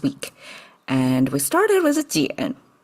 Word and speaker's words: 捡: And we started with jiǎn. It's pronounced still as jiǎn.